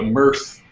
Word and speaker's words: MEarth: And so we call the project the M-Earth project, the MEarth project. So we pronounce it MEarth because these planets make us happy.